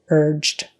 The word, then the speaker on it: urged: beginning urged and again the G letter is pronounced like a j urged urged meet meet make